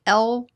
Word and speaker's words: Lyubomirsky: Oh, I always say her name wrong. Lyubomirsky. It's like Lyubomirsky.